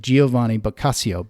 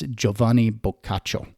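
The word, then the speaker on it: Giovanni Boccaccio: particular story written by yovani or Jovani bacho is how you'd pronounce it in Italian when you look at the spelling it looks like Giovani basio but uh in Italian it's joavan bacho and that book that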